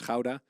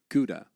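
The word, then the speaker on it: Gouda: great cheeses uh the most popular one of course is howda AKA of course Cuda Siri yeah don't try to pronounce if you're not Dutch it's not a great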